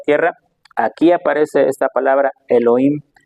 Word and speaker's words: Elohim: Después hay otro nombre de Dios, hermanos, que es Elohim o Elohim, como pronuncian algunos, también es hebreo y también significa Dios.